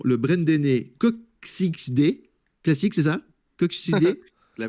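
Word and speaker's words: Koksijde: Alors, excusez-moi ma prononciation, le Brendené Coxide, classique, c'est ça? Coxide? La Coxide. Breden Coxside. Coxside. Ah, Coxside, d'accord, direct. Moi, j'essaie de le prononcer.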